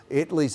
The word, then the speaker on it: Italy: Italy's at 1228. And if you're new here, it is Italy. It's not any other pronunciation.